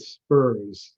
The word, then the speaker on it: SPRS: system too many acronyms they pronounce it spurs so you might hear that term in order to be able to post the score in spurs you have to make